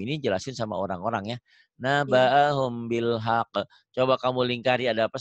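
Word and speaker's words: نبأهم بالحق: Naba'ahum, humnya jadi ada bindeng. Naba'ahum gitu, ikhfa ya. Bunyi M tapi bindeng.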